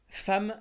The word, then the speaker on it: femme: cours déjà aujourd'hui femme ça s'écrit avec un E et ça se prononce avec un a dès le début on